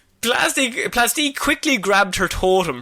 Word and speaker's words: Plastique: And Plastique quickly grabs pronounced plastic. I'm sorry. Oh, for God's No, it's plastic.